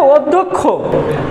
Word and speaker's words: অধ্যক্ষ: হবে বলো তো কেউ ওয়ায়ের পরে যদি জ ফলা থাকে ওয়ায়ের পরে কি থাকে জ ফলা থাকে তাহলে ওয়াটা কি হয়ে যাবে ও হয়ে যাবে তাহলে এটা হবে অধ অধ আবার আবার দেখো ওয়াটা